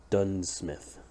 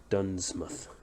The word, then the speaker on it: Duunsmuth: gonna call it yeah we'll call it um done Smith done Smith but it's called more it's pronounced that way but it's spelled like d-u-n-n um m-u-t-h uh apostrophe s done Smith okay apostrophe H I just wanted to write